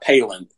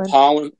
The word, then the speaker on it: Pollan: It's not Palin, but it's Michael Pollan.